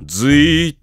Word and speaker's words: Z: も Z あるかこれはずと読みます 3 年ず組